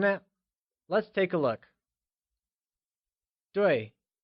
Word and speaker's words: 对: 对 is pronounced using a falling tone, like 对.